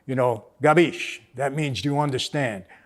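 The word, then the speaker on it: capisce: nothing drives me more crazy than when people mispronounce italian words like you know gabish that means do you understand and i had people say kapishi and i say what you know it's gabish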